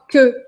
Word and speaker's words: queue: E aqui essa palavra queue se escreve com tudo isso de letra, mas você vai pronunciar só queue, queue, queue, bom?